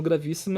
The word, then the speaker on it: gravíssimo: E gravíssimo, gravíssimo é proparoxítona. Gravi, si, né? Gravis, separa aí com S junto. Vis, si, mo. Então, a antepenúltima é sílaba tônica, logo vai ser acentuada.